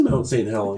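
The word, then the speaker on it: Mount St. Helens: really really cool stuff pronouncing the thing is Mount Saint Helen yeah um in Washington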